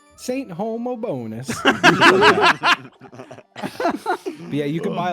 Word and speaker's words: Homobonus: I was like, "Well, it's got to be pronounced like hobbonus or something like it can't be pronounced. Homobinous." But we put it in like a pronunciation thing. And and I'll never forget the little robot sang back Saint Homobonus.